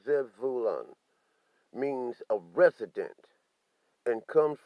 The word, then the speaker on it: Zebulun: is lies zebulun okay the hebrew word zebulon pronounced zev vulan means a resident and